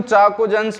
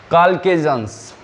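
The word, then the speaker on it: chalcogens: वैसे तो हम इसको चाकोजेंस बोलते हैं, लेकिन एक्चुअल में ये होता, इसका प्रोनाउंसिएशन होता है काल्केजेंस, ठीक है।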